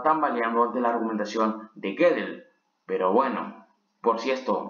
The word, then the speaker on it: Gödel: Un paper del matemático Kurt Gödel, si mal no me equivoco se pronuncia así, amenazaba todo lo que